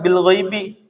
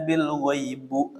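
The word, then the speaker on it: بِالْغَيْبِ: Nah, ada kalimat bil ghaibi. Ba-nya huruf jar. Maka sudah pasti kata selanjutnya pasti isim sehingga dibacanya kasroh bil ghaibi, bukan alladzina yu'minuna bil ghaibu. Itu pasti salah.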